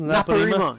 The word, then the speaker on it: Naparima: Naparima. Yeah. That was pretty close. Well, just get a little more of a Trini accent, Doc.